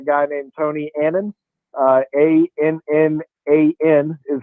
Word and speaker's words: Annan: carolina's hired a guy named tony annan uh a-n-n-a-n is how you spell his name is pronounced annan uh from atlanta united he's the